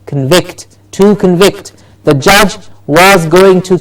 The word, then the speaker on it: convict: The judge was going to convict him of murder. Yes? And so the convict was hanged. So the convict as a noun, and to convict. Difference in the stress syllable needs to be heard.